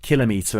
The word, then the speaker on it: kilometre: units millimeter cimer micrometer kilometer and to to measure micrometer you use a device known as a micrometer and again Kil kilogram kilobyte kiloliter the stress is always placed on the first syllable so why do people